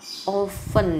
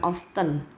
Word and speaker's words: often: sekitar satu bulan sekali jadi ini bacanya oven ya bukan often howland seberapa sering berarti